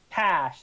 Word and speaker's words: Tash: How do you pronounce that? Tash.